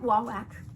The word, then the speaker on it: Wawak: i got it at wawak whey whack i know i'm saying it right wah wack it just doesn't sound right but i opened this